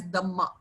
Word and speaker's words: Dhamma: they used to say, they used to pronounce dharma as Dhamma.